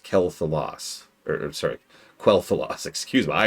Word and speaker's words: Quel'Thalas: But generally speaking, the director's job is to say, oh no, it's pronounced Quel'Thalas.